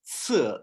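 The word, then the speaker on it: 四: you have sir and that s is actually pronounced like a TS sir Sir sir okay so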